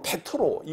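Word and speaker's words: Πέτρος: 베드로라는 말이이 원어 발음으로는 베트로이 말이에요.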